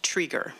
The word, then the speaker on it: Triger: time certain um Mr igel my last name is pronounced triger so if you'd like to address me again in the future that's a note for you um I would like